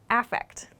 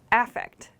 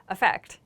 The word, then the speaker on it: affect: noun for this is affect affect so notice the pronunciation change we don't say effect here the emphasis changes with this noun form we say affect affect